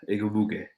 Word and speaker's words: Igwebuike: Yeah, Igwebuike. I'm pretty good with the pronunciation. Igwebuike.